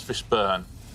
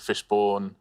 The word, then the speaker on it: Fishburne: It's Laurence Fishburne, but you could sort of pronounce it Fishbourne.